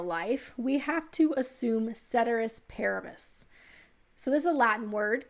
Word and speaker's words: ceteris paribus: grew up in texas so my pronunciation ceteris paribus uh is not uh is more of a texas pronunciation it's not the true latin keteris periboose but it means everything